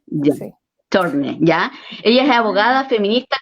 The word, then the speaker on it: Tschorne: Quítale la T y la S. Chorne, Ya. así. Shorne, ¿ya?